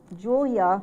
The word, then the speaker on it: Julia: So, for example, Julia became the helper for the sound at the end of a word. That is a very important sound. It sounds like a U, but it's represented by an A.